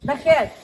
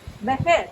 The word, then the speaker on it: Vejer: Vejer. Sí. Otra vez. Vejer.